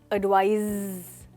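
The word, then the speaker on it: advise: ध्यान से सुनिए, एडवाइस स, एडवाइज, इनकी प्रोनाउंसिएशन में भी एक छोटा सा फर्क है, तो वो आपको हमेशा याद रखना है।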